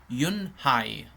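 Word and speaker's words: Unhei: turned to Joy she nodded slowly yes it's pronounced Yun high and it means graas Mr Kim added Yuni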